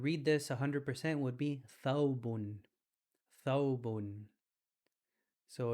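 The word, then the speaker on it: ثوب: Something you guys may be recognizing or used to, the word thawb, which is the long dress the imam wears. Thawb. It starts with a tha.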